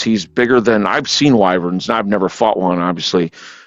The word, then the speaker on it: wyvern: Actually did find out that's actually the correct pronunciation is Wyvern.